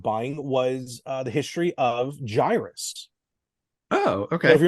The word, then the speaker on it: Gyruss: First thing I learned that it was pronounced Gyruss, not Gyrus, because that's how I've been pronouncing it for 30-something years.